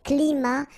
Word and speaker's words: climats: So you can see that even if we've got the plural form here, S, we don't pronounce the S, and then we don't pronounce the T either. Les climats tropicaux.